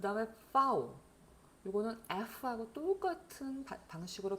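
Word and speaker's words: Vau: 자, 이게 영어의 V하고 다르죠. 영어의 V는 유성음이란 말이에요. 그래서 V 이렇게 하지만은 독일의 파우는 F하고 같은 발음이 나요. 같은 발음이 납니다. 다만 독일어에서 가끔 요 파우가 쓰였는데 영어처럼 발음하는 경우가 있어요.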